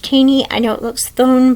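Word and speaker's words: Thoene: Prelude by Bodie and Barack tany that is pronounced teeny I know it looks phone but it is pronounced teeny and um I I want to read this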